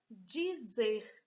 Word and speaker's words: dizer: Dizer. 2 sílabas. Dizer. Qual é a mais forte? Repita, dizer. Ó, zer. Se a última palavra é oxítona.